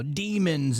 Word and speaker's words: daemon: of the word demon goes back to Damon or it's still pronounced demon I think but it looks like Damon, right? D AE M O N.